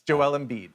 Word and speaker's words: Joel Embiid: It's Joel Embiid.